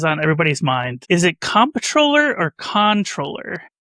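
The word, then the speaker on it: comptroller: Is it compatroller or controller? So, I try to keep everything under control, but I believe that the proper pronunciation is actually controller.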